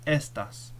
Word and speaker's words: estas: So for example, if you were to remove the accent mark from estás, if you get rid of it, now the word is estas. Estas means these.